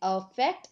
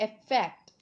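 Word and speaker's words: affect: ए से शुरू होने वाला जो अफेक्ट शब्द है उसे हम बोलते हैं अफेक्ट या फिर इफेक्ट। इस प्रकार से इसका प्रोनाउंसिएशन होता है।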